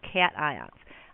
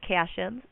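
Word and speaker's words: cation: and the positive ions are called cat ions I've also heard them refer to as cion so if you're watching other videos and somebody says the word casions that's just a different way of pronouncing it sometimes we put groups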